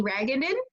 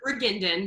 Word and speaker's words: Reginden: So I'd like to introduce you to Ragenden. Did I pronounce that right? It's Reginden, but close enough.